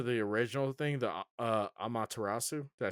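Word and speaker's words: Amaterasu: ] back to the original thing the uh amatarasu did I say it right yeah amatarasu yeah hey I might I might even put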